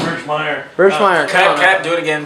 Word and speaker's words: Birchmeier: Birchmere. Birchmere. Is that how you say it? Yeah, it's Birchmeier.